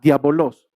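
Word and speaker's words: διάβολος: La palabra utilizada en el original en griego es la palabra diabolos, con acento en la A, diabolos.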